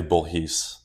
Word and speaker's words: Bourhis: name is it French it's technically bhes what's bhes bhes is the French pronunciation of my last name but we we butchered that when we my family came to the US oh I I didn't